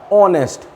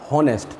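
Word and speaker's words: honest: Vowel बोले तो क्या आ रहा है, स्वर आ रहा है, ऑनेस्ट ना कि हॉनेस्ट।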